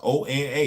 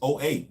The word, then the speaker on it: Oa: City and over which I used to famously pronounce as OA he had them both capitalized o-n-a it's o-8 no it's oh oh okay he had no idea somebody should have said something